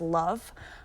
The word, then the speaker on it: LOVB: It's LOVB, pronounced love.